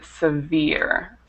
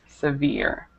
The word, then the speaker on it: severe: here it should be severe severe okay so you don't pronounce that e on the end and then another word